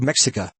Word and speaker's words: Mexica: The indigenous peoples were called Mexica, pronounced Mexica, and because the Spaniards did not have a letter or sound in their alphabet that had an handle sh, they replaced it with an X.